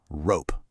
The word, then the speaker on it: rope: And bingo, I see that O in the middle and that silent E at the end. That E is like a little bit of magic, telling the O to say its name.